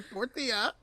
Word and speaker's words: tortilla: them like that is not okay it's a tortilla say it with me yeah that's so funny